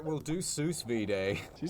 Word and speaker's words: sous vide: All right, we'll do sous vide. Did you say sous vide? What's sous vide? How's it pronounced?